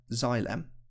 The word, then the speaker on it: xylem: some tubes called xylem that word is pronounced xylem sounds a bit like xylophones got the same three letters on the front as xylophone does and you can think